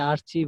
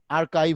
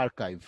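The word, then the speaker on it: archive: Business site বলতে আমরা স্যার এটা দেখা কি যায় আর্কাইভ সাইট হবে নাকি আর্চিভ হবে? আর্কাইভ হবে, উচ্চারণটা হবে আর্কাইভ, বুঝছো?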